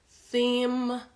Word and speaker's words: theme: like a ly snake I always say that is like it's little snake because you have to show a little bit your tongue it's crazy I know